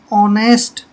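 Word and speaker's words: honest: जैसे ये है, यहाँ पर एच साइलेंट रहेगा। ऑनेस्ट, ऑनेस्ट होता है ईमानदार।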